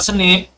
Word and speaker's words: SNP: kemudian kita hitung total snip SNP yang bacanya snip tuh per hapl grup